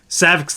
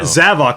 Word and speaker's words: Zavok: got really disappointed because Saavik this guy who fights you physically in lost world mode turns in the Bowser for singing I pronounced the SAVAK don't you know zavok sorry yeah Jesus really died off